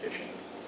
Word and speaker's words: phishing: me, and that's called phishing. But it's spelled with a P-H, P-H-I-S-H-I-N-G. But you can think of it just like phishing. They're literally fishing for information.